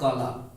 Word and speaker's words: कला: इज the brother of काला। ठीक है। इसको KALA को काला पढ़ेंगे। ठीक है। ये दोस्तों कला है, कला की मीनिंग भी क्या होती है, KALA ही होती है।